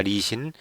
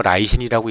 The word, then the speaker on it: 리신: 리신, 이걸 뭐 라이신이라고 읽는 사람도 있던데, 자, 리신, 트립토판, 트레오닌 이렇게 꼭 이렇게 외우셔야 됩니다.